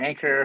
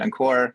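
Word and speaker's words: Ankur: So I go by Anchor. Some people pronounce it Encore. Either way, I live in Oklahoma City.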